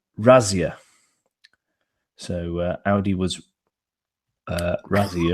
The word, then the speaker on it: Razzia: Audi raids so um apparently how I'm supposed to pronounce this in German is I say Razia so Audi was uh